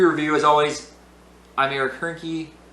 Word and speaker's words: Hoernke: As always, I'm Eric Hoernke, rhymes with turnkey, and this has been a production of Zero Value.